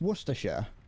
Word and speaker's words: Worcestershire: No, that's Worcestershire. We pronounce it like that. We don't pronounce it Shire.